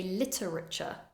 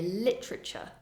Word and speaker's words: literature: A common mistake would be to say literature, but it's not so common to pronounce it that way. You'll more often hear literature.